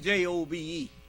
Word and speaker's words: Job: I know it's spelled Job, but it should have been J-O-B-E. Job is a silent E on there, you see. They spelled it wrong, but it's all right.